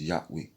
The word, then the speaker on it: Yahweh: God was YHWH, where you just pronounce Yahweh.